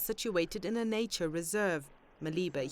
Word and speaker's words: Maliba: Maliba here is pronounced Madiba, a Sesotho word meaning water.